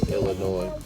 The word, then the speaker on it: Illinois: And I don't know about as far as the rest of the state, Illinois. Again, the S is silent.